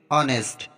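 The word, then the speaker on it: honest: है एग्जांपल देखते हैं ऑनेस्ट अब यहां पर देखो ओ से पहले जो है एच आया है तो यहां पर हमारा एच का उच्चारण नहीं होगा साइलेंट रहेगा ऑनर अब यहां पर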